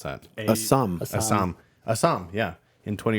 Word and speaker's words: Assam: 20 years and as M how do you pronounce that Assam Assam Assam yeah in 20 years so a